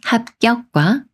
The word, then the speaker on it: 합격: 연습을 해 볼게요이 말은 합격과 합격 중에 어떻게 읽어야 할까요 비웃 받침이 초선 기억을 만났으니까 초선 기억이 쌍기역 수리인 그가 되면서 합격이라고 읽어요 합격이 말은 잡담과 잡담 중에